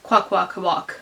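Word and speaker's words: Kwakwaka'wakw: in the video said it's okay just to say the kwakwakawak um without the little flourish at the end of the w indicates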